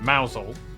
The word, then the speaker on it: Mousehole: over to rampisham ransom then down to mousehole mousel next trouble north that's a ransom yeah no